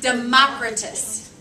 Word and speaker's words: Democritus: Democritus.